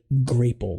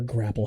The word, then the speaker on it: Grapple: in our store called a grapple or grapple, however you pronounce it, but there is a long A there.